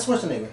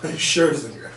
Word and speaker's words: Scherzinger: It's not Schwarzenegger. No, Scherzinger. But a lot of people can't say her name, so she should have just been by a different name.